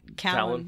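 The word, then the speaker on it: Calon: Callan is how they say it in the audiobooks, and Colin.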